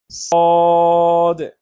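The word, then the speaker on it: صاد: সদ সদ সদ যখন আমরা পড়ি তখন আমাদের জিহ্বার অবস্থান এবং যেখানে ছিল সেখানেই থাকবে, কিন্তু আমাদের উচ্চারণটা একটু মোটা হবে।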